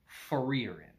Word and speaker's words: Frieren: I will make that mistake constantly throughout this video, but her name is pronounced Frieren.